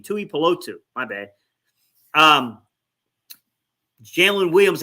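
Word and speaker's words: Tuipulotu: Polo tutor how do you say his name Tui polotsu my bad um Jalen Williams and I've had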